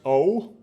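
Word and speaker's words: を: is by the way this right here is pronounced o and it always comes after the object of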